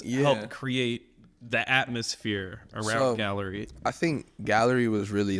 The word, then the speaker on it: Galler-E: about the last project Gallery yeah do you say do you say it with a syllable do you say like Galler I just pronounce a gallery that's that's how I